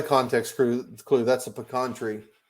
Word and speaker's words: pecan: crew clue that's a pecan tree it's got to be texas and and notice that i pronounced it correctly when i said pecan pecan or pepperoni it's not a pea it's not a pecan